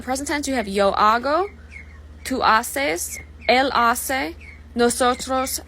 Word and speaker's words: hago: The reason why is if you put an O, H-A-C-O, it would no longer say hago, it would say haco, because a C with an O following it is a hard C, k, instead of a soft C. S. So just to get rid of that, they just do hago.